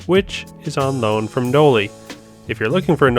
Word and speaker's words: Knolly: pronouncing no ly wrong the company is named after the guy who started off Knoll and that's why it's called Noli and even though it